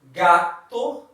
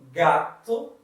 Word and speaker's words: gato: We can pronounce like in G, G-A and G-O. Gato, gato, it means cat.